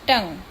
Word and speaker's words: tongue: Then the next word is tongue. So in tongue, U is silent, and you have to write two more words in which UE is silent.